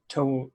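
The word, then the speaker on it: Touv: i don't know yeah it's like two toes yeah okay twelve two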